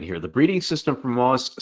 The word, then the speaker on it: MOA: Anyway, okay, the breeding system for MOAS sounds quite, hopefully I'm saying that right, sounds quite complex. MOA. Oh, S is silent. Okay. Or MOAs, it's just plural.